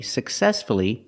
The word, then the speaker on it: successfully: he managed the company successfully for many years successfully successfully the stress is on the second syllable so we pronounce the U uhuh successfully let's practice